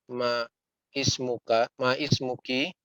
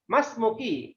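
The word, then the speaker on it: ما اسمكِ: Ma ismuki. Dibacanya langsung ya Pak Fajar. Mas Muki. Jadi bukan Ma Ismuki.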